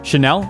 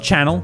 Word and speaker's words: Chanel: no it's not gucky chanel it's not channel louis vuitton it's not